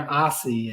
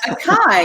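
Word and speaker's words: açaí: one has blueberry and aussie in it what's aussie it's a type of uh however you pronounce that berry a-c-a-i i've never been sure how you say it a kai isn't that a kai this style you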